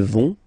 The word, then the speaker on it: vont: Ils vont, elles vont. Okay, remember, final T not pronounced, so you get this ON nasal here. On, vont.